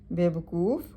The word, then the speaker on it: بے وقوف: درست لفظ یہ ہے: بے وقوف، وقوف کے پہلے واو پر پیش ہے۔ مبارک، برکت دیا ہوا